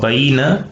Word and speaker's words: veïna: En aquest cas, per exemple, la paraula veïna, la E i la I formarien diftong, però com que les pronunciem per separat en dues síl·labes diferents, hem de trencar el